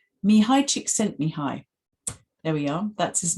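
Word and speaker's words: Csikszentmihalyi: to check to make sure i get the pronunciation right me hi chick sent me hi there we are that's his name and he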